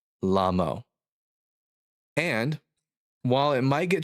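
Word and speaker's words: לָמוֹ: It's the word lamo. It's spelled with 3 letters, lamed, mem, vav, lamo.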